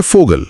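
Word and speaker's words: Vogel: German में वी का उच्चारण व नहीं बल्कि फ यानी अंग्रेजी के एफ जैसा होता है। अक्षर का नाम फाउ है और इसीलिए फोगल बन जाता है फोगल।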